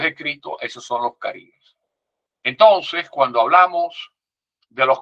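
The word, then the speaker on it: karib: En tupi guaraní se dice carib, K-A-R-I-B, carib.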